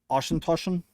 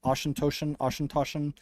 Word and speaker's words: Auchentoshan: Auchentoshan. I think that's how you pronounce it. Auchentoshan.